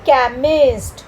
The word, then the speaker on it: chemist: तो अब यहाँ पे हम CH को ना च पढ़ेंगे न श पढ़ेंगे, हम इसको क्या पढ़ेंगे, इसको हम पढ़ेंगे क। तो बन गया केमिस्ट।